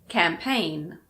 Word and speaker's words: campaign: It's also usually silent if GN is at the end of a word, like these: campaign, design, foreign, rain, sign.